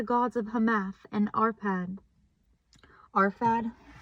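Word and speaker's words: Arphad: Arfad. Off the books, it's spelled A R P H A D.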